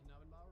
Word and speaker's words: Knabenbauer: Once again, I am your Dungeon Master, Knabenbauer. We have our party all gathered here and ready to go. Yay. I don't like pronouncing the K. No one does. I just say Nabenbauer.